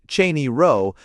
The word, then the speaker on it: Cheyne Row: We are called Sheney Rose Proper, pronounced Cheney Row, and are a gentile neighborhood.